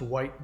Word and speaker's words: wight: Wicht, W-I-G-H-T, is an ancient Germanic word for what we would call a nature spirit. It's pronounced white now.